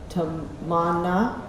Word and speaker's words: Tamanna: They were teaching me exactly how to say it. Tamanna, okay, good.